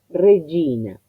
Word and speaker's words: regina: Pero si prestamos atención, la pronunciación de la letra G con la I responde al fonema Y, que tiene sonoridad. Entonces no va esto, sino va el fonema correspondiente que es la D como ataque sonoro.